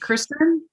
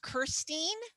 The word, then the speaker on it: Kirsten: Is it Kristen? It's one of those names no one can pronounce. It's pronounced Kirsten, so you can't look at it and say it at the same time.